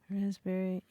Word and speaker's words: raspberry: K NE L Neil raspberry yes silent letters yes silent letters raspberry is the silent s p well P silent P right answer w w